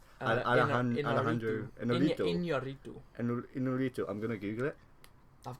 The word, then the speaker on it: Iñárritu: Alejandro González Iñárritu.